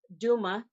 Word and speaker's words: Douma: My maiden name is Douma in the English pronunciation. It came from my grandfather, but his name was Dauma, and it means singing as you go.